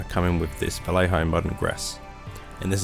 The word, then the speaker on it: Vallejo: I believe it's supposed to be pronounced Vallejo, but I have enough trouble even with English, so come on, give me a break.